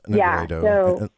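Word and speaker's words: nigredo: So you say that the alchemists divided the 7 stages into 3 big phases, which is the blackening, which is pronounced Negreto, and the whitening, which is pronounced Albedo, and the reddening, which is pronounced Rubedo.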